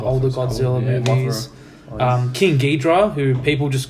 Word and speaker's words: Ghidorah: Well, And the correction, his name is Ghidorah, not Ghidra.